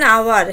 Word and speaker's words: hour: An hour, here s is silent, though s is consonant but we never use h, that's why we use hour.